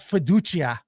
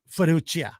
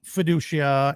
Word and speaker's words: Fiducia: It's not Fiducia. Although I think if they were in Italy, that you would pronounce that guy's name Fiducia. But Joe was calling him Fiducia, and I'll take Joe's word for it.